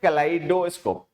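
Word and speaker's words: kaleidoscope: इसमें ई जो है वो आई से पहले आता है और वो साइलेंट रहता है। ठीक, तो ये जो हमने लिखा ना कैलाइडोस्कोप, ये स्पेलिंग सही है और ये वाली गलत। तो कैलाइडोस्कोप में ई जो है वो आई से पहले आता है, जो कि साइलेंट रहता है। प्रोनाउंसिएशन ई इसमें होती नहीं।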